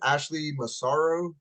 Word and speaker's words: Ashley Massaro: is how do you pronounce her name? Ashley Massaro.